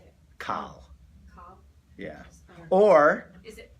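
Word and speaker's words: קל: Kal.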